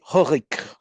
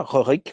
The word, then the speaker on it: Rorik: Alors Rurik, son vrai nom, c'est Rorik. Alors je le prononce aussi en danois, Rorik ou Ruruk, qui habite la ville de Dorestadt, dans le Danemark.